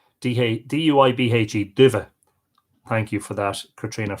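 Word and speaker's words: duibhe: Dive. D-U-I-B-H-E. Dive. Thank you for that, Katrina, for the pronunciation assistance.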